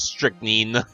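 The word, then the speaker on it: strychnine: oh yeah also I learned how to actually pronounce strickening hence this title something wrong Lord van Zeeks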